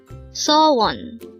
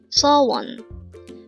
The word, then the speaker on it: 소원: word number 358 saw one saw one this is pronounced as a two syllable word the first syllable is saw second syllable is one pronounce it with me saw one so one the word